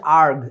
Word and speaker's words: erg: এইটার উচ্চারণটা হচ্ছে আর্গ, ERG। এই যে বানানটা আমি বাংলায় লিখে দিই আর্গ। এইটাকে অনেক অশিক্ষিত গরুরা কয় আর্জ না, আর্গ।